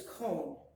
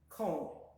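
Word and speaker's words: koon: The double O sound, and that word next to it is cone. Cone. K-O-O-N. Cone, which means snow. And it's pronounced like the O in post.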